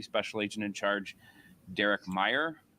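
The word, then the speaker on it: Mayer: first from Deputy special agent in charge Derek Meyer it's uh pronounced Meer it's spelled m a ye R Derek is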